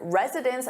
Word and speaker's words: residents: Or in the plural, where it sounds similar, identical, their residence in the new senior residence.